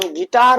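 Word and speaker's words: guitar: और गिटार गिटार में भी देखिए बिल्कुल वही चीज। तो अब आई से पहले आ रहा है और जी के बाद भी आ रहा है। तो हमारा यू क्या हो जाएगा? साइलेंट हो जाएगा। तो हम गिटार पढ़ेंगे। इसे क्या पढ़ेंगे? गिटार।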